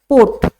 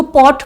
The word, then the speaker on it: pot: इसमें देखो root word का है, दैट इज POT, पोट। इसको पॉट प्रोनाउंस ना करके पोट प्रोनाउंस करना, और ये पोट का मतलब होता है पावर।